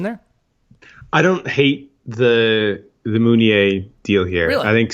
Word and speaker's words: Meunier: I guess it sort of depends if you want to go with the French pronunciation there or not. And no, it's Meunier.